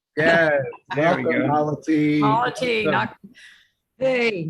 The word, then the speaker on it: myositis: Myositis. Hey, Myositis rhymes with quality.